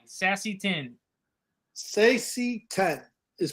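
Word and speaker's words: Saesee Tiin: Sassy 10 is pronounced.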